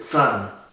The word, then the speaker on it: Zahn: La Z también se pronuncia como si tuviese una T en el principio, como Zahn se dice Zahn, der Zahn, que significa el diente.